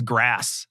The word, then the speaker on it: GRAS: It's interesting that people who push natural foods can't bring themselves to pronounce it GRAS as grass.